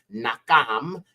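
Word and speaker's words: נחום: you've got the mom so that gives us nakam and then you have the yah which is the shortened version of yah's name okay so nakam yahu means Comfort or consolation of yah or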